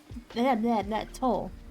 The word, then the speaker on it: toll: Toll. Toll. Toll. Toll. Toll. Toll. Toll. Pronounce both L's that are there. It's not the toll that you drive, pay while driving on your one.